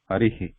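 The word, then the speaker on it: हरिः: hurry he hurry though when we actually pronounce it loudly it may sound like hurry he like this hurry he like if I write in a transliteration it sounds like this Hari heat but it not be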